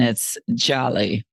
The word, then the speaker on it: Djali: Now, I just want to clarify for everybody, your name in English sounds like it's Jolly, but it's actually Djali. So the D is silent and it's Djali.